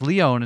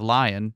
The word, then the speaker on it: Leone: English also explains why his name is pronounced Leone instead of lion and why it's pronounced